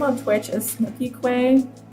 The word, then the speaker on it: kwe: k and my name on Twitch is snooky Quay U which after Snookie Quay is spelled kwe and this girl that I watch